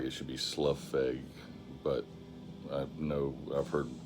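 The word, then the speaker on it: Slough Feg: say it it looks like it should be SLU FEG but I know I've heard the majority of people pronounce it slow FEG uh they've done some stin and Angel witch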